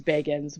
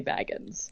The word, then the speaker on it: Bagans: name, where he says it's Bagans. We all say Baggins.